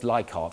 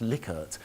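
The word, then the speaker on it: Likert: the lier scale now some people say it's lyart I actually look this up it's actually pronounced liquor so that's something you may have learned today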